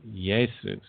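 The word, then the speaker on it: Iesus: Y sound for example the Greek spelling for quote unquote Jesus um is often pronounced yesus um so the name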